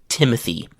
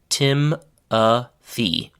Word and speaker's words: Timothy: a syllable is, then think of my full name, which is Timothy. So my name has 3 syllables. Tim-a-thee. The short form of my name is Tim, and it has only 1 syllable. So Timothy, 3 syllables. Tim, 1 syllable.